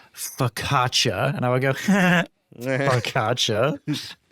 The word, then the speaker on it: focaccia: And she said, "It's focaccia."